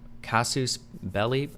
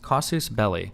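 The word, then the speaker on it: casus belli: Um, Kasus belly. Why do I keep forgetting how to say this? Casus. Kasus belly is what it was, right?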